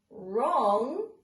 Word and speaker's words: wrong: hear okay it's silent the silent W in the word wrong we cannot hear so when we're talking